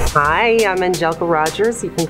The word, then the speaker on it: Angelka: I did not know her name was spelled Angelka, pronounced that way. Angelka. Angelka. A-N-G-E-L-K-A.